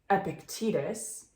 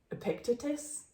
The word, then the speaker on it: Epictetus: no it starts with a quote from Epictetus which is how Ryan holiday pronounces it but then we heard Robert Greene last night pronounce it as Epictetus I picked a picture